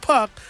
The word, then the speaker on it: Puck: by the name of Puck. Because if you don't know, before he was Pac-Man, it was Puck-Man. Puck, because it rhymes with another word.